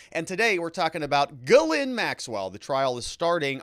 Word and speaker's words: Ghislaine: That's how you pronounce it, Ghislaine.